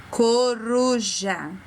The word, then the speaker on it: coruja: Coruja. Ouça. Coruja. O R teve um som diferente, não foi? A gente dobra a língua para falar.